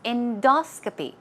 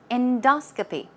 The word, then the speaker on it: endoscopy: example okay now pronunciation stress goes right there on the second syllable it's endoscopy endoscopy alright okay let's check